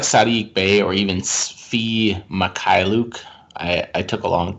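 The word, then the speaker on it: Mykhailiuk: so a guy like sadiq bay or even fee makai luke i i took a long time to master that pronunciation but it's fee makai luke uh he's he's a guy that's going to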